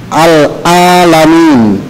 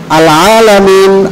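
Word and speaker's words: العالمين: mengganti Ain menjadi hamzah Jadi bunyinya alalamin itu adalah bacaan yang salah alamin artinya adalah alkaun yaitu alam semesta sementara alalamin ini mengandung makna yang bersumber daripada kata alam yaitu penyakit atau rasa sakit jadi keduanya berbeda nah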